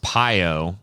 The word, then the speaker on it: Pio: a trump supporter like pio pronounced piyo and he could have